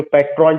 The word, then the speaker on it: patron: इन सारी सिचुएशन को ध्यान में रख करके कि कैसे जो पेटर्न पेटर्न जो PATRON, मतलब जो हेल्प करते, जो पैट्रॉन जिसको हम लोग कहते हैं, the correct pronunciation is पेटर्न। Are silent हो जाएगा।